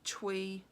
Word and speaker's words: Thuy: It's actually spelt Thuy and then L-E, and I found on Instagram, on her account, she has suggested that you pronounce it Thuy.